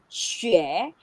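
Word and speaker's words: xué: yes okay so again this word that is she now look at the first character how do we pronounce the first character look at this opinion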